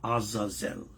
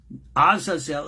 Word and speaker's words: Azazel: and therefore you have Azazel. It's not Zael, it's Zel.